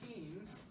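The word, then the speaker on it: ctenes: Don't pronounce the C again, right? Ctenophora. So these comb rows are called tenes, right?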